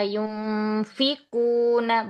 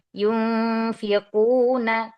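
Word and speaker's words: يُنفِقُونَ: Hati-hati dikata yunfiquuna bukan di fanya habati diqofnya yunfiquuna.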